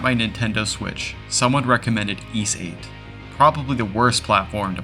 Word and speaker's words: Ys: How do you even pronounce that? I is S. Yes. Nope. It's simply East.